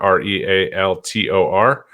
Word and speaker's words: realtor: at jk co realtor r-e-a-l-t-o-r um no i in there for those of you that struggle uh pronouncing the word realtor um and i also